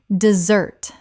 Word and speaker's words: dessert: The noun desert has stress on the first syllable. The dessert we eat and the verb to desert both have stress on the second.